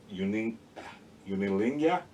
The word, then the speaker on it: Unenlagiinae: It's Unenlagiinae, because I have trouble spelling out loud in my head, so I wrote it down right here. And it's like Unilingia.